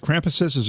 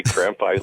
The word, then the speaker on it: Krampuses: Is it Krampuses, or could it be Krampi? People always want to say Krampi, as if that's for Latin, though. It's a German word.